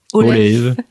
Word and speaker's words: Olave: Je rappelle donc que vous avez publié cette biographie de Olaf Baden-Powell qui se prononce Olaf. plus exactement.